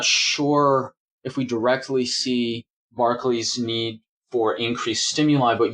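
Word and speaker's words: Barclay: run-ins with Picard, or Picard mispronounces his name as Broccoli.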